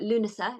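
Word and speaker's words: Lughnasa: the Sun and light um hence lunasa or lunasa as it's correctly pronounced and that literally means assembly of Lou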